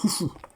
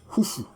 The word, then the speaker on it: Khufu: En fait, la bonne prononciation c'est Khufu. Voilà, la bonne prononciation du nom de ce Nessout-là, ou pharaon, c'est Khufu.